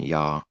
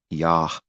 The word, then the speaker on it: Yah: So as far as I believe and know, it's not even Yah. It's Yah with an H sound because there's a dot in his word.